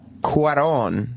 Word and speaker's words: Cuarón: Eric Weber of NECN writes, as Cuarón, that's how you say his name, the director, as Cuarón spells out in his intro, life in space is impossible.